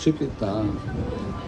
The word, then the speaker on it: Шепета: На последнее надо ударение делать. Шипита.